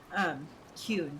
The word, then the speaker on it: Qun: Kun, that's how it is. I was like, I'll pronounce it every other way, except for the right way.